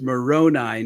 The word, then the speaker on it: Moroni: the Mormons find you the name is is pronounced Moroni not